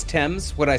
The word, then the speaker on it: Thames: Yeah, and it is Thames. They're all wrong with the name. Yes. Yeah, I mean, that's what I've been saying. I've been saying it's Thames the whole time. It's Thames.